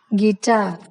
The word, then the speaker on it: guitar: The letter U is silent when it comes after G and before a vowel in a word. For example, guide, guest, God, guess, guitar. Now the letter W.